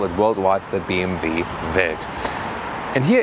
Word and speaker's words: BMW: It's also about BMW or BMV as in the German original pronunciation.